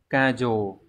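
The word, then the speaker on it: 過剰: Từ đầu tiên đọc là kajo. Chúng ta cùng xem cách đọc trước nhé, kajo này.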